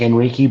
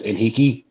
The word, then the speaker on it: Enrique: The owner's name was, it's spelled like Henrique, but it's Enrique.